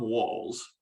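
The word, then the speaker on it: Wahl: And and he was genuinely happy that someone had recognized his name, because although Tom, it's pronounced Wall, it's actually spelled W-A-H-L.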